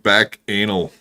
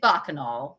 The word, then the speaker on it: bacchanal: It's bacchanal, right? Yeah, it rhymes with cocainal.